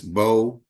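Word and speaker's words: Mbow: solid at tackle Marcus bo uh the m is silent his last name Marcus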